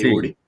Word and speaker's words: Savory: No sé si viste alguna vez, y estoy seguro que sí, el método de pastoreo de Savory, o no sé, creo que se menciona, se pronuncia así, Sí, Savory.